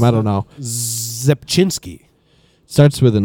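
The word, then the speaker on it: Rzepczynski: I've always just said Rapansky because I didn't have a prayer of pronouncing that correctly. Mark Zepchinski. Mark Zepchinski, okay. The C is silent. The R is silent too, right?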